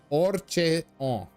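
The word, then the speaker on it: Haurchefant: Harchenfont. On est prononcé pas les h. Orchefon.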